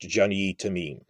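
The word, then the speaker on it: Jany Temime: It's French, so it's pronounced Jeannie Tamim.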